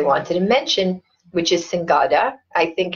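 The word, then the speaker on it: singoda: other things I wanted to mention which is singada I think it's pronounced I was always saying soda but a new client of mine here um corrected me and said it's singada that's SI y n g o d a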